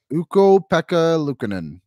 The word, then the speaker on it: Ukko-Pekka Luukkonen: Ukko-Pekka Luukkonen.